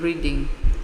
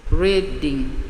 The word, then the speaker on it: Reading: They have managed to arrange to go together to the same hospital in Reading. Kai, in the staff room, overheard one of the foreign doctors correct their pronunciation. Reading, not reading.